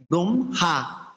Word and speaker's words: ব্রহ্মা: সাথে হ যুক্ত হলো, সেক্ষেত্রে আমরা হয়ের উচ্চারণটা পূর্বে না করে পরে করতে হবে। এই জন্য এটা করবে কি ব্রহ্মা ব্রাহ্মণ।